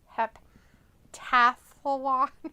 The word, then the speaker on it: heptathlon: Oh, Piccolo spelled it wrong. That's why. It's Heptathlon. Okay, heptathlon. Yeah, that makes more sense. The way he had it was not. The T wasn't there.